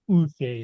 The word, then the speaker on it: Uche: He's come out in a press conference and he wants to be called his full name, Joshua, and then it's Uche is how he pronounced it Boucher.